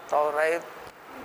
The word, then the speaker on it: توریت: یہ پیغمبر موسیٰ علیہ الصلاۃ والسلام کی شریعت پر چلنے والے, اللہ کی مقدس کتاب توریت پر, تورات توریت دونوں صحیح تلفظ ہے.